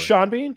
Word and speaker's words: Sean Bean: michael b that's what i'm looking is it sean bean it's sean oh i'm sorry sean bean uh